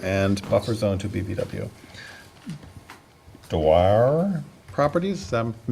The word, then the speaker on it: Dwyer: Dwyer Properties, am I mispronouncing that? Dwyer, okay, thank you.